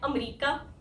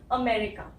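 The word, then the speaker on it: America: अब ये इसको क्या बोलते हैं लोग, इसको लोग बोलते हैं अमेरिका, है ना, अमेरिका बोलते हैं, लेकिन अमेरिका गलत है, जैसे अफ्रीका गलत था। इसकी सही प्रोनाउंसिएशन है अमेरिका, ठीक है, अमेरिका।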